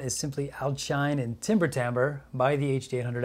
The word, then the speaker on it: timbre: simply outshine and timbre tambour by the HD 800 s hey Google how do you pronounce the word timbre that's pronounced Tambor hey these sexy French words